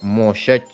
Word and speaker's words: Moshe: Moshe, la H muda.